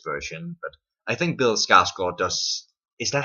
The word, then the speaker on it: Skarsgård: It's very, very different from Tim Curry's version, but I think Bill Skarsgård does. Is that how you pronounce it? Sorry, Skarsgård. No, it's not Skarsgård. That sounds dumb. It is Skarsgård, right?